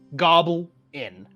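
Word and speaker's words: Gobl'inn: It's the goblin, gobble in.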